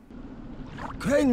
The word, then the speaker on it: Crane: Crane rhymes with train and brain and sane and grain.